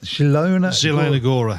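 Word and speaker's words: Zielona Góra: match between Sparta Rockclaw and Can you pronounce that? Yeah, Zilona Zilon Gora, thank you very much.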